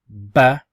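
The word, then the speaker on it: ب: So because it looks like a boat, it's actually pronounced as ba.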